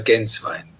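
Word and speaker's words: Gänswein: Di origine, lei ha detto, il mio cognome è molto difficile, non è italiano, si pronuncia Genswein.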